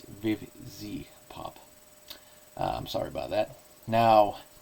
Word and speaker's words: Vivziepop: these episodes notice, and that is I was mispronouncing Vivzipop's hashtag. I was saying Vivipop or Vizipop, but it's Vivzipop.